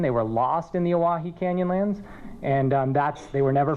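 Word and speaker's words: Owyhee: The origin of the name, the Oahe, is actually a mispronunciation of Hawaii. The canyon is named after some trappers who were with Peter Skeen Ogden. They were lost in the Oahe Canyonlands, and they were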